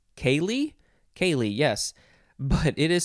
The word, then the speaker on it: ceili: can't even do it c-e-i-l-i that one makes more sense kaylee this is a noun from 1875.